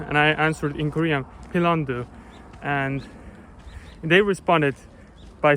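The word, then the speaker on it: 핀란드: country you know since korean language doesn't really have a v or an f sound and just in general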